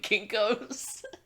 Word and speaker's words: Kinko's: Estonian Kinkos. Estonian. Yes, it's pronounced Kinkos.